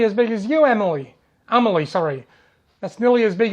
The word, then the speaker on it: Amelie: Amelie, pronounced Amelie, caught her first Lake Burley Griffin mud marlin last week.